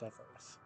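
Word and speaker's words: Etheirys: Because yes, it turns out you were right, it is pronounced Etheris.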